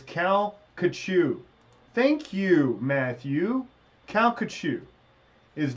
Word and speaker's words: Calcasieu: Calcasieu. Thank you. He did. He phonetically broke that down for me in a way that I could understand.